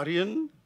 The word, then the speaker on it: Aryan: an a how do you say it an Aryan background AR Arian okay the same as the nais and so